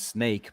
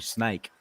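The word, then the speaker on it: Sneek: it's actually in English you'd pronounce that as snake, but in Dutch it's actually snake.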